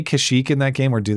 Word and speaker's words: Kashyyyk: I mixed up Endor and Kashyyyk, and and now and you're mispronouncing it. It's Kashyyyk.